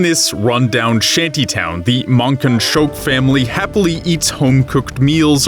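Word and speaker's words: Mankanshoku: rundown shanty town the monan shoke family happily eats homecooked meals around a dinner table Yeah they pronounced it Monk and choke in the dub so I'm just going to say it like that around them the masses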